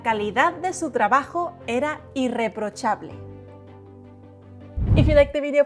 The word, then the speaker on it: irreprochable: Static vowels, dry and static consonants. Remember that. It is not difficult, just needs practice. So it is not irreprochable, but irreprochable. I-E-O-A-E. Irreprochable.